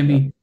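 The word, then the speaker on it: Chemie: Shemi, right? It's Shemi, yeah. Yeah. So this, it's misleading. Okay, but here you learn. So Seha is sh, and IE is E. So Shemi.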